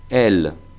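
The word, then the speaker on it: elle: la derecha he puesto la pronunciación que es una abierta el el se puede enfatizar más el e el alargando o se pronunciará pues como como si estuviera escrito en español el el y el plural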